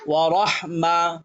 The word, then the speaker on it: ورحمة: মিম জবর মা ميم زبر ما কিসে ورحمة ওয়া রহমা ورحمة ওয়া রহমা ورحمة তা দুই পেশতুন تادي بستن কেইলো ورحمة ওয়া রহমাতুন ورحمة ওয়া রহমাতুন ورحمة ওয়াকফ হইলে ورحمة ওয়া